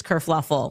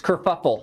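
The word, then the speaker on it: kerfuffle: Prince Harry abdigates England causes this whole race kurfluffle. Oh no, that's it's kurfuffle.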